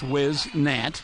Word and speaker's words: Whisnant: the near side Whisnant over the top his whiz NAT she told me that's how to say it